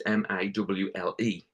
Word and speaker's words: Morley: Joseph Morley's the actor, and I was going to have Scott Morley, but people couldn't read Morley. It's Mawle. They couldn't pronounce it, so we stopped Scott Finn.